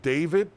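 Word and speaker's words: D4VD: story uh about a singer whose name is David. Well, it's spelled like D4 VD or some something like that.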